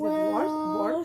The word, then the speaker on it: world: Alright, so the Earl is going to be at your teeth, your bottom teeth, like perfectly align it. World.